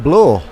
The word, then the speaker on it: Bloor: So Bloor. Indeed. Is that how I pronounce it? It is. It's like floor, but with a B.